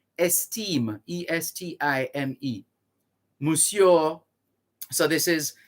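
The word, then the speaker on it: Estimé: esteem that's d-u-m-a-r-i-s du mari d-u-m-a-r-i-s you marry esteem e-s-t-i-m-e mussio so this is january 24 1951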